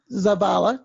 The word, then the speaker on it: Zavala: thank you Ron our guest today is jose Zappala did I pronounce that correctly yes very good Jose we're